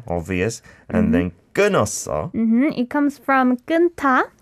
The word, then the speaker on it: 끊었어: But you don't like need to say 끊었어. No. Like when it comes to this hiu that mm-hmm. is followed by iu, mm. then it is silent.